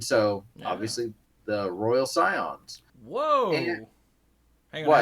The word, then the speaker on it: Scion: So this is the Royal Scions. Is that how you pronounce that? Scion? Like Scion Yeah. of Darkness?